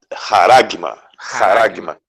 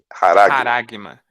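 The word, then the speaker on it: χάραγμα: Haragma. Pronuncia com um som de R, né? Haragma, não estigma.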